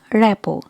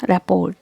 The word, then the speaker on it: rapport: pastel in this word letter r and t are silent so pronounce it like rappo not rapport okay not rappered i will pronounce it rappo rappo rippo so these